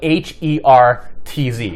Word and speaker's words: hertz: The unit is hertz, and that's spelled H-E-R-T-Z.